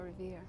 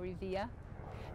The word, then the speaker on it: Revere: Listen, my children, you shall hear the midnight ride of Paul Revere. That was one, just thinking of that double syllable. I suppose that when people make Revere, making two syllables out of it.